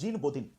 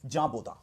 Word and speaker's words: Jean Bodin: So here in French this will be pronounced as Jean, and this will be pronounced as Baudin. So what is the actual pronunciation of this philosopher? Jean Baudin.